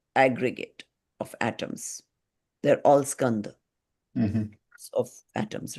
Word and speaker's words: Skandha: How do you say it, Prabhat? Skand? No. Skanda, Skandha, skanda.